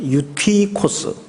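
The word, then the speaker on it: Εὔτυχος: 우선이 청년에 대해서 소개를 좀 하겠습니다.이 청년 이름이 한글 성경에는 유두고라고 돼 있는데 그 원 발음으로 읽으면 유티코스입니다. 유티코스.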